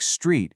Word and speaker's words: street: Then on the other hand, you have to fight the urge to add extra vowels into a group of consonants. You want to blend those sounds smoothly together. A word like street should be one smooth sound.